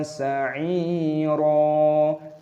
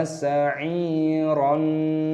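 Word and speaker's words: سَعِيرًا: Wa aghlalan wa sa'ira, jangan dibaca wa sa'iron, tidak boleh.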